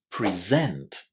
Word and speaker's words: present: On the other hand, if you use this word as a verb, then you need to put the stress on the second syllable, present.